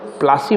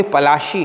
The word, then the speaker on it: पलाशी: हालांकि वी are pronounced प्लासी बोलते हैं, लेकिन एक्चुअली पलाशी है। इट्स नेम इज़ पलाशी, जय का नाम है पलाशी।